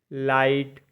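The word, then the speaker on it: light: एच लाफ मतलब हसना एल आई जी एच टी लाइट मतलब रोशनी सी ओ यू जीी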